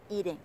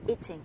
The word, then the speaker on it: eating: Còn cái ding ở đằng sau, trong tiếng Anh Mỹ từ eating sẽ được đọc là eating, tức là cái âm được đọc na ná giống như âm flap, âm trời nhẹ của tiếng Việt, hơi giống một chút.